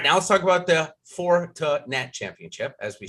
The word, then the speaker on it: Fortinet: let's talk about the four to nat championship as we say that i had to look it up phonetically so i'm going to say it in three syllables all day here 156